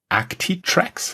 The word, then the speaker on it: Actitrex: As the people who are watching this can already see, your company is called Actitrex. Yes. Is that the right pronunciation?